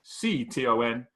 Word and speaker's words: Moncton: It's got fine dining, which I was looking just to find out how to pronounce Moncton, Moncton.